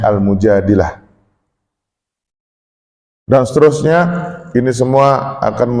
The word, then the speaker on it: Al-Mujadilah: Orang sering baca Al-Mujadalah, tapi mungkin bagi saya yang lebih tepat bacanya Al-Mujadilah.